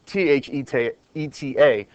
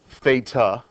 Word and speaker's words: theta: It is pronounced, it's spelled t h e ta, but it is pronounced theta.